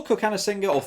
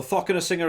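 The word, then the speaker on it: Cokanasiga: I mean, we saw Kokanasinger or Thokanasinger. A couple of people call me out on my pronunciation of that. It began with a C. It's always been Kokanasinger to me.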